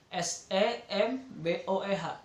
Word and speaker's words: SEMBOEH: Jadi untuk menuju kesembuhan, jadi kita ambil dari kata sembuh, ya, SEMBOEH. Jadi dibacanya semboeh.